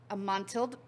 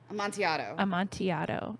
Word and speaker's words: Amontillado: That's because it has the same ending as tortilla. Amontillado. That's what we're going to say. The Cask of Amontillado. That sounds way better. So we're just going to go with that.